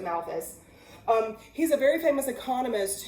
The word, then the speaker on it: Malthus: mentioned in chapter two so his name is thomas malthus or malfuze however you hear it pronounced i've always pronounced it malthus he's a very famous